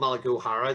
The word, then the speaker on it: Malachai O'Hara: in our history um so paul i'm called malaguhara there's a father in there you can kind